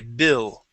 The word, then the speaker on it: built: So, instead of saying build built, we're going to use a short I built.